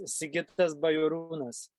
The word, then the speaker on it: Sigitas Bajorunas: It depends who is pronouncing, you know. If it's Lithuanian way, it's Sigitas Bajorunas.